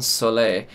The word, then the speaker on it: soleil: And my favorite track from this album is San Soleil. I found out before this video that's how to pronounce soleil, because it's French and it means the word sun.